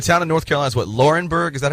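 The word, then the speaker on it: Laurinburg: are from the town of North Carolina's what laurenburg is that how you say it yes population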